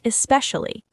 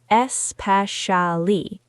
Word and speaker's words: especially: The word especially. Many learners say it too slowly. Espali. Try this rhythm. Especially.